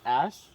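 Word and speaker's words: æ: They have this little marker, which is an A&E put together. It's pronounced ash for a reason.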